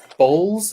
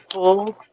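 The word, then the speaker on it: boules: thousands of dollars of bowls. Is that how you pronounce it? Bowls? Bulls. Oh, the bulls. Bulls. Isn't Yeah. it bulls? Bowls? Yeah. It's bulls. It's bulls.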